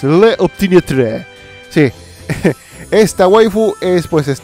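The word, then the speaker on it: L'Opiniâtre: Vamos a pronunciarlo como en francés. Le Optimiatre.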